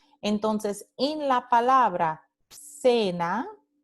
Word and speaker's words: cena: Entonces, en la palabra cena, cena, tenemos la letra C seguida por E y esta letra C se pronuncia S, S de cena.